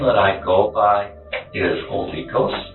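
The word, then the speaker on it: Olykos: So, the name that I go by is Holy Ghost. How do you spell it?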